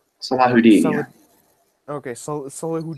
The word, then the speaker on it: Salahuddin: Saladin is just the westernization of it. Okay. Well, I mean, I I won't say it correctly, but Salahuddin is solidifying his... You have to get the Arab throat noise out, Okay.